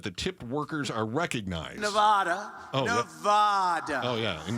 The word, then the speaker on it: Nevada: It has to be Nevada. Nevada.